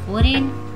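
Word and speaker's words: foreign: ठीक है, उसके बाद है फेन, फेन में भी आपका जी जो है साइलेंट है। नेक्स्ट है आपका फॉरेन, है ना, उसमें भी क्या है आपका, जी साइलेंट है।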